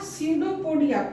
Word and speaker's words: स्यूडोपोडिया: अब यहाँ स्यूडोपोडिया, पी जो है ये साइलेंट है, पी का उच्चारण नहीं हो रहा है, यहां से बोला जा रहा है स्यूडोपोडिया।